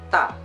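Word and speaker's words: 大: Misalnya ta itu artinya besar, jadi tulisannya seperti ini.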